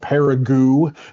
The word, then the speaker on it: Paragould: My grandfather was born in Arkansas and lived there until he was 10 years old in a town called Paragould, that is spelled Paragold, that is in the northeastern part of the state.